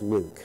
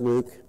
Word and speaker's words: LIWC: The computer program is called Linguistic Inquiry and Word Count, LIWC, which is pronounced Luke. And I know it doesn't sound like it should be pronounced Luke, but it's my program, and I'm calling it Luke.